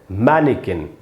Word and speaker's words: mannequin: वो है मैनिकिन। मै के नीचे आप देखेंगे मैंने अंडरलाइन किया है, यानी वहाँ पर स्ट्रेस है, वहाँ पर आपको ज़्यादा देर तक रुकना चाहिए।